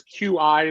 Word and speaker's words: Qi: So anything that wirelessly charges it's QI is the letters, but it's pronounced Qi.